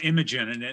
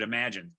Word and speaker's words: Imagen: So for a while, I was calling Imogen, and then Bob Weingart, is the president of the company, said no, it's we pronounce it Imagine.